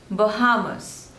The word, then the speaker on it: Bahamas: Trio Austria Austria Austria next is Bahamas Bahamas so there are three syllables and stress is on the second one Bahamas Bahamas Bahamas next